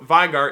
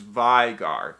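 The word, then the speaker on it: Veigar: Vigor because in German when you have like an e and an i next to each other you say the you say the one that comes second so v-e-i-g-a-r is vigar the vegar would be v-i-e I learned that in German class I'm pretty sure that's how it works otherwise I'm gonna look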